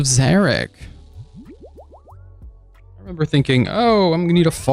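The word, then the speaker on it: Xeric: It rhymes with Chambers of Derek. That's right. It's Chambers of Zarek.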